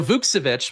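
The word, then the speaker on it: Vukčević: So Vukcevic, we'll start saying that correctly now.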